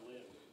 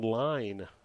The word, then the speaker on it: Lynn: Eagles goal number 12, Sean Lynn. My apologies. Sean Line is the correct pronunciation.